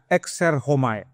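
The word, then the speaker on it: ἔρχομαι: Ada yang bilang er chomai memang tulisannya begitu tapi bacanya homai.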